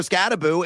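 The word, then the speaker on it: Skattebo: Scataboo. And it's not Scatabo, folks. Make sure you pronounce it correctly. It's Boo, as in think of a ghost.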